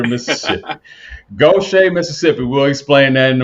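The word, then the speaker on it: Gautier: Currently residing in pronounce the name Goch Gocha, Mississippi. I didn't want to mess it up. I was getting ready to say Gator, Mississippi. Gocha, Mississippi.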